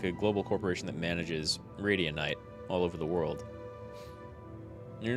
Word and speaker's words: Radianite: this company that manages Radianite. I always want to pronounce it Radiante for some reason. I think it's because I hear a lot of people say Valorante.